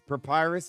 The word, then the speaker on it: Papyrus: Papyrus is how you pronounce it.